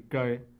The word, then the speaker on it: cae: La opción A, el inciso A es cae, así cae, manejado en dos sílabas como palabra grave, obviamente sin tilde porque termina en vocal.